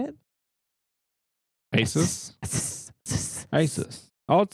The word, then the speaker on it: Asus: Asus. Asus. I would say Asus.